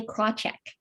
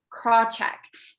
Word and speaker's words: Krawcheck: name crenshaw sally crenshaw is that how it's pronounced do you know sally krawcheck craw check i'm fascinated by how when she did that